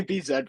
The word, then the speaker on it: bZ: in the States yeah BZ right is that how you say it Andrew or yeah Bz okay well in Canada I'll say Bzed for you Martin in Canada in the UK we we say zed for for the letter Z